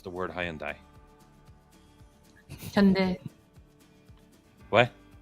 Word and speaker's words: Hyundai: properly pronounce the word Hyandai what H so like Monday Tuesday Wednesday Thursday Friday Saturday Sunday H it's the eighth